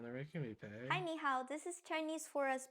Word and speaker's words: 你好: Did you notice that the tones for 你 and 好 doesn't sound the same when they are together? 你好 They are both pronounced in a third tone when spoken individually. And when they are together, they are pronounced like this. 你好 So when two third tones are together, the first one turns into the second tone.